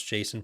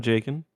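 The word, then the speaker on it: Jacen: 12-year-old me popping out, not knowing how to pronounce Jason properly. That's actually what you called him, Jaken. Yeah. Well, it's what I would have if I ever talked to someone in real life about Star Wars, but that was how I pronounced it in my mind. Yeah. Because I saw that C.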